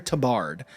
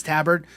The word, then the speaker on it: tabard: on is this musketeer to Bard I believe that's how you pronounce it must get tear to Bard it's a and that might be it I honestly it's it's tabard okay see I don't know